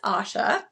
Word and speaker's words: Asya: for the next couple of weeks this is Asha correct I said that right right as yes